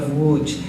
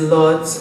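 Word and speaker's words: Łódź: in the polish city of wooj and i use the polish pronunciation but some of you might be familiar with it as lords or lodge spelled lodz and i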